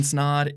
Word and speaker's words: Snod: what's going on everybody my name is Ryan snod it rhymes with odd and you're watching and